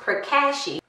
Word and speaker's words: Pracaxi: very impressed here's the product again and it's pronounced per Kashi and again this is from Carol's Daughter and